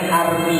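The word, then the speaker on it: Hermès: saya tahu ada tas yang 20.000 Apa mereknya Hermes Oh berarti belum beli itu berarti Kenapa bacanya bukan begitu Itu makrotnya salahnya salah berarti Berarti enggak tahu masih pakai barang KW B bacanya Armi bukan am arm itu bahasa loh Kok bahasanya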